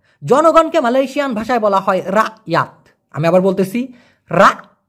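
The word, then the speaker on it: rakyat: Malaysian ভাষায় বলা হয় রাত আমি আবার বলতেছি রাত এই কটা ছোট করে উচ্চারণ হয় এরকম না বলে বলতে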